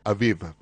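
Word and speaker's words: אביב: En hebreo se pronuncia Aviv.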